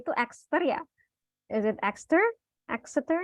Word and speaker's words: Exeter: Dan ketika melihat Inggris, melihat Edinburgh, melihat gimana sih pronunciation-nya itu Exeter ya? Is it Exeter? Exeter? Ya, How do you say it? extra.